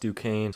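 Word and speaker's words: Duquesne: not saying it earlier I guess it's pronounced Duane so Dukane beats Illinois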